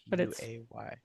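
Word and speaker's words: Guay: He is Yeah, it's it's actually spelled uh G u A Y G A Y. Oh, okay. Pronounced gay.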